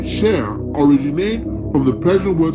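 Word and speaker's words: شیر: The Persian word lion is pronounced Sher, or Sher, derived from the symbolizing the strength, the courage, and the nobility.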